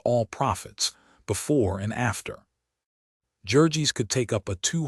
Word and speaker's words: Jurgis: Pronounced Jurgis, Ona was blue -eyed and fair, while Jurgis